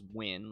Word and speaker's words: Nguyen: Okay, that's how it's pronounced. If you're ever been unsure about that, it's Nguyen, like... W-I-N.